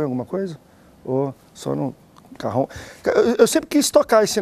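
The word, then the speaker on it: cajón: Carrão, isso aí. É carrão. Carrão. É carrão o nome. Se escreve cajão.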